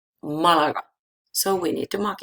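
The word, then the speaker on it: Málaga: Malaga ends with a, ends with vowel, the accent, the stress should be in la, Malaga, but it's not there because it's irregular form. The stress is in the first a, Malaga.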